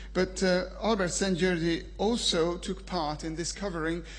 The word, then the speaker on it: Albert Szent-Györgyi: You can pronounce it St. Georgi, but his name is Albert Szent-Györgyi. Hungarian is a funny language.